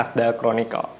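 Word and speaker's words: Arthdal Chronicles: Tulisannya Ardal Chronicle tapi dibacanya Asdal Chronicle.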